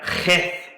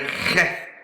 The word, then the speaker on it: Het: Now the 8th letter is the letter Heth. And it's got the gravelly back of the throat sound that we don't really have in English. It's the word Heth or Het in Hebrew.